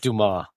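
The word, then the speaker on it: Dumas: shank again when he says Alexander dumbass he's pronounced Dumar that's hilarious so you mentioned you want to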